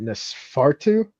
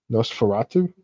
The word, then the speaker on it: Nosferatu: Nesfartu. The remake is coming out in like December, like Christmas Day, I think. That vampire movie remake. Did you see that? No. Is it Nesfarto?